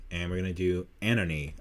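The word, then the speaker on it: ANOHNI: we're going to do anony i think that's how you pronounce it in her album a-n-o-h-n-i uh she was formerly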